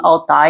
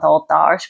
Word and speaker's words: Altaj: I think you say her name Altai and not Altaj, because I was listening to the audiobooks and that's how the narrators pronounce her name.